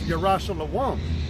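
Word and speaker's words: ירושלים: It says, "Run ye to and fro through the streets of Jerusalem," which the word Jerusalem in the Hebrew, which is the proper way to say it, it's Yerah Shalom, which Yerah means to teach, and Shalom means of peace.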